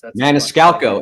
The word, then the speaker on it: Maniscalco: He had like one of my favorite comedians on there, Sebastian Maniscalco, and I can never pronounce his name right. So that's Maniscalco.